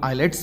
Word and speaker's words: IELTS: में नहीं मिलेंगे आल्स जिसे कि लोग आईलेट्स भी कहते हैं जिसके उच्चारण में एल साइलेंट होता है इसे आई ई एल